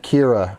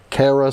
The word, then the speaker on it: Kara: I've been pronouncing it Kira. Sorry, I'm checking in the chat now. We're finally getting Kara's name correct.